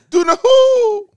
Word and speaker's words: Dunahoo: Was it? Like, but spelled phonetically? It felt that way. Mm. Or is it Donohoo? Dunahoo.